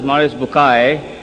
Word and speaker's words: Maurice Bucaille: and a scholar of Quran Dr moris buk pronounced as moris bukai am I right doctor matter okay uh he's